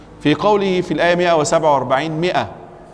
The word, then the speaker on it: مئة: في قوله في الآية 147 مئة رسمت ميم ألف همزة، لماذا مرسوم الألف مع أنها لا تنطق؟